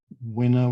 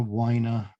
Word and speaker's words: Wiener: mute hi paul yeah it's wiener actually and i'm i'm also